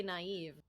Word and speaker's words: naive: like what naive is it looks like nave doesn't it it does it does but that's how you say naive yeah i assume that